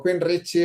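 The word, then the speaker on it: Queensrÿche: Y claro, Creek Queen R o Queen Richy o Queen Rich es que tiene muchas accepciones, cada uno lo pronuncia como quiere. Yo siempre he dicho que rike, pero eh tampoco era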